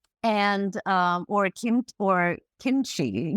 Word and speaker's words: kimchi: um or Kim or Kimchi, you know, which is spelled Kimchi, which is actually it's it's actually kimchi in Korean.